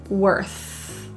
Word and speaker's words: worth: The TH in worth is often difficult for people, so if you feel your tongue is out between your teeth and you're blowing, you've got it. Worth.